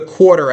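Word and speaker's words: Quartr: If you've never listened to an earnings call, download the Quarter app. It's spelled like quarter, like a 25 cents, but no E at the end. No E at all. Q-U-A-R-T-R. Quarter.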